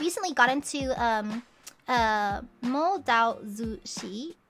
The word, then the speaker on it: Mo Dao Zu Shi: got into um uh mo dao zu shi is that the crack pronunciation can someone correct me on that i don't know how to pronounce it correctly and so like phonetically um type it out for me because i i'm not quite sure i don't know offend by getting the pronunciation wrong did i get it right i got it right okay ah okay okay